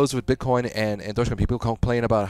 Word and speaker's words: Dogecoin: I go, "Oh, is this Doggy Queen?" It's like, "No, it's Dogecoin." I don't want I don't want them to go through that experience.